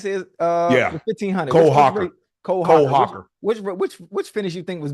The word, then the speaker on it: Hocker: Hoker? Is it Hoker? How you say it? Yeah, 1500. Cole Hocker.